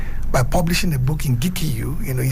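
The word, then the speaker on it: Gikuyu: I will write in my native Gikiyu, not Kikiyu. He said Kikiyu is a Europeanized way to pronounce my people's name. It's Gikiyu language.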